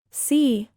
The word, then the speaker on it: Si: sh, with a deep sigh, which is associated with the liver. He, pronounced like her, with a yawn, which is associated with the heart. Si, pronounced like sir, with a slow exhale, which is associated with the lungs.